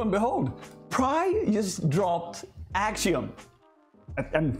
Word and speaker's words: Axiom: behold pride just dropped axiom and think I'm saying it right it's ax IOM and it's a dynamic